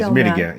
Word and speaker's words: Mitigare: Yeah, I can't even pronounce it. Well, it's Mitigare.